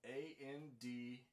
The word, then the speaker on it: andante: that word's uh spelled a-n-d-a-n-t-e again an italian word pronounced andante and it means walking